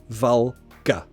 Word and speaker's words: vulgar: how do you pronounce vulgar vulgar vulgar that's a a schwa sound at the end Olga vulgar I wish